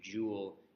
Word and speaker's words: Joule: 4.184 joules okay a Joule is another unit of energy this is a last name after James Prescott Joule it's pronounced like you have a jewel like a piece of jewelry so the equation we're